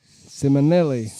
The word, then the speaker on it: Simonelli: Simonelli. That's how you say it, 'cause he told me for sure. That's how you say his name. Gotta say it fast.